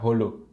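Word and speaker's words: Jolo: dulu tahu Lho katanya kalau bahasa Spanyol dibaca hollow julu dibaca Hulk Jadi kalau ada tulisan Jakarta bacanya hakarta I hope Filipina Selatan januari2019 lalu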